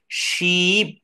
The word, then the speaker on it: sheep: সময় ধরে রাখতে হবে, অর্থাৎ প্রথমটা উচ্চারণ করতে হবে শিপ, অর্থাৎ তালব্যস্বয় দীর্ঘিকার প। এটা একটু দীর্ঘ সময়, কারণ না এখানে ই কয়টা আছে, দুইটা। তো এটাকে আমি শিপ বলবো না, এটাকে একটু সময়টা, আমার দমটা একটু ধরে রাখবো, শিপ।